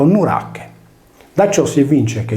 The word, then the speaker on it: Nurache: il cui nome era in origine scritto nuracha e pronunciato nurak Da ciò si evince